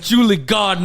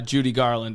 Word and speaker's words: Judy Garland: Julie Garden ass motherfucker, man. Julie Garden. Yeah, dude. They would pronounce it wrong. Yeah. They would say Judy Garland as Julie Garden.